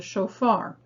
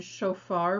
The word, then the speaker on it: shofar: So speaking of sounds, the second syllable in shofar begins with the new letter for this lesson, and that is the Fe, which is actually a soft pronunciation of the letter Pe.